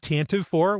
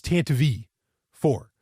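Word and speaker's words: Tantive IV: heard it mentioned in it's not tantive 4 which is what I thought it was always pronounced as it's tant V 4 so the tant V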